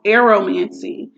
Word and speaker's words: aeromancy: And the third and final one for today is called aromancy. It is spelled Aeromancy.